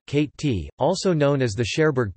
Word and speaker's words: Cotentin: The Cotentin Peninsula, French pronunciation, Cate-t, also known as the Cherbourg Peninsula, is a peninsula in Normandy that forms part of the northwest coast of France.